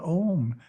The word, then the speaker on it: Om: Introspection portion consists of chanting the mantra Om 9 times with eyes closed. For Om Japa to be effective, the mantra must be pronounced correctly. First syllable is A, pronounced as the English word ah, but prolonged.